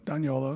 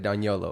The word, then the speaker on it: D'Agnolo: and also myself I'm on Instagram at Don YOLO spelled the way my name is spelled you finally said it Don YOLO daniolo yeah d-a-g-n-o-l-o and then also let's see on